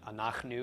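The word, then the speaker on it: אֲנַחְנוּ: front of me but anak nu is the pronunciation regardless anak new means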